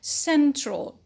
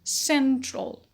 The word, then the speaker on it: central: word is central central the suffix stress shifting suffix is all a-l all and it causes the stress to um to fall just on the syllable before it so we say central central next word is centralize